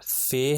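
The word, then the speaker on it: فاء: तो गा हो जाएगा फिर इसके बाद हमारे पास फे है जिसको उर्दू में हम फे कहते हैं मगर अरबी में इसका नाम है फा इसके ऊपर जबर आ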